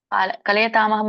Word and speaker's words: ಕಲಯತಾಮಹಂ: ಕಲಯತಾಮಹಂ ನಲ್ಲಿ 2 ಪದ ಇದೆ. ಕಲಯತಾಂ ಅಹಂ ಅಂತ ಕೂಡಿ ಹೇಳಿ.